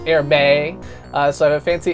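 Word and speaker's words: Hermès: I got a grown-up tie from a place that I call Hermes, but apparently if you're fancy and pronounce things the correct way is Hermes.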